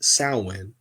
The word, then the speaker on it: Samhain: marketing the end of summer the hours word Sam Hayne also found as samane Samuel but it's pronounced salwin seems to derive from the ancient word meaning